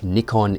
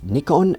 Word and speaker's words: Nikon: look I understand the correct pronunciation of Nikon is Nikon and not Nikon I always say Nikon so if I do say Nikon very sorry in advance but uh I'm so used to saying it now there's a lot we